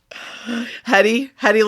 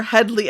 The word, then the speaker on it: Hedley: Hedy Lamar, Hedley. Oh my gosh. Hedley. It's so funny that how they all keep saying his name wrong, and then he has